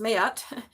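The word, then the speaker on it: Ma'at: So, Mayat, pronounced Mayat, is an ancient Egyptian deity associated with truth, harmony, and balance.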